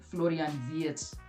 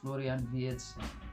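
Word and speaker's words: Florian Wirtz: right place for him, especially with uh Florian, Florian Viet, I've been told. That's how it's pronounced. Florian Viet with him coming in.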